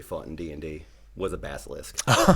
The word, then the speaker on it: Basilisk: How do you pronounce it? Basilisk.